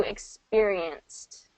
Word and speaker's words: experienced: So if you've, and then over here do experienced. Experience. So instead of experienced, because with the ed ending, T. Experience ends in a voiceless sound, right? So we're going to do the voiceless T at the end.